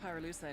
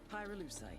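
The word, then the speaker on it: pyrolusite: him you know what pyrule side is right yeah neither did I pyrolucite key syllable pyro by the way is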